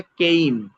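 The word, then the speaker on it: game: কেয়া এটা হচ্ছে আমরা কেম বলি মূলত এটা কেইম মূলত এটা কিডেট বলি মূলত এটা ডেট ফেস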